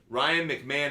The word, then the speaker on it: McMahon: Oh, it's McMahon. McMahon, thank you. Yeah. Sorry. Pronounced it wrong. Ryan McMahon. Ryan McMahon is how I should pronounce it.